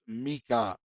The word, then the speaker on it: Michael: Turtle aside it's pronounced Mikael Rafael gabri L like the name it's like a hyphen eel that denotes that they're